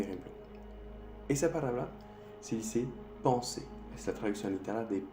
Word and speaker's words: penser: Esa palabra se dice penser.